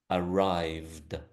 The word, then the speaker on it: arrived: So the first one here is arrived. Arrived. Can you hear the d sound at the end of that?